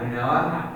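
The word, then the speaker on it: Rinoa: So, I have to say Squall and uh, Renoa. Is that how you say her name? Yeah, Renoa.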